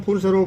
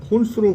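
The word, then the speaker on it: Ponce: 한국에서는 폰세로 발음하지만 현재에서는 폰스로 불리고 있어 저 역시 이번 영상에서는 폰스로 부르겠습니다.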